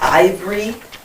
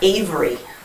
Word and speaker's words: Ivory: on his uh name it's ivory not avery oh all right my